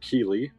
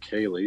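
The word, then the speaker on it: Keighley: uh according to the IMDb his name is pronounced William key uh I might have said Kaye just by looking at it but apparently they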